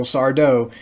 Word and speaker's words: Sardo: richard dumont as sardo no mister accent on the dough so if you guys ever meet him uh you know go into an alternate reality and where there is an actual sardo you better pronounce his